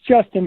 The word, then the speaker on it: JSTN: It's Justin, but it is spelled JSTN. All caps. Okay, it is Justin.